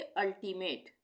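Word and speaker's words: ultimate: तो यहां पर भी हम इसको अ का उच्चारण करेंगे। यू के लिए अंब्रेला। उसी तरह से अल्टीमेट।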